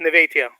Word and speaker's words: Nevatia: Is it Nevatia? Nevatia? It's very close, Nevatia, but you're very Nevatia.